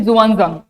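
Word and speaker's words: Xuanzang: तो चल question number two the Chinese traveller जुआजंग और वनसांग नाउ द प्रोनाउंसिएशन इज़ जुआजंग तो ये जो स्पेलिंग लिखा है अब उससे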